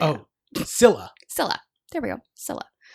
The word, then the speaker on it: Scylla: No, it doesn't say Cecilia. Oh, Scylla.